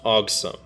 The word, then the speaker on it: AUG-50M3: This is just a combination of AUG and awesome in lead speak, meaning it's pronounced awesome.